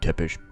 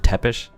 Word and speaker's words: Tepes: bellomont and tepish music shouldn't be tip ish roma and bernardi's also house pronounced tepish that Tepes they maybe I kind